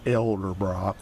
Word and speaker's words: Edelbrock: sale on Craigslist, Elderbrock, doesn't matter how it's spelled, you call it Elderbrock, like elder care.